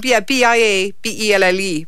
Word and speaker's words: Biabelle: Spell it. B. Yeah, glasses have to come on. BIABELLE.